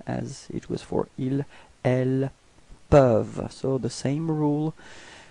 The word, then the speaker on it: elles peuvent: it was for ils, elles peuvent. So the same rule, final E-N-T is not pronounced, so you get elles peuvent.